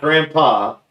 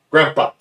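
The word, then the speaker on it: Grampá: Not Grandpa, Grandpa. We got the accent on the A.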